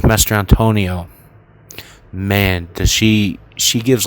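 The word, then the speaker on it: Mastrantonio: I can tell you that, by Mary Elizabeth Mastriantino. Man, Mastriantonio. I'm sorry, I always mispronounce her name. Mary Elizabeth Mastriantonio.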